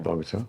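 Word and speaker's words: Bogotá: Pronouncing Medellin. Medellin. That's it. Yeah. And then what's the big city one? Bogota.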